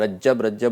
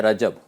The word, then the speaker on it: رجب: غلط استعمال کرتے ہیں، رجب بولتے ہیں، جیم کو جو ہے نا جیم کو مشدد کر دیتے ہیں، حالانکہ درست اس کا ہے رجب، جیسے طرب اس کے وزن پر جو ہے نا رجب، صحیح عربی میں بھی ہے رجب.